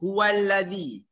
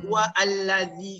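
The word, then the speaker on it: هو الذي: Jadi sebab tu kita sebut huwallazi. Kita tak sebut huwa allazi kan?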